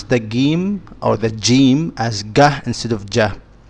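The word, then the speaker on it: جيم: pronounce as g is jim. In standard Arabic, this would be jim, j. So jahila. But since I'm from Egypt, I just say gahila.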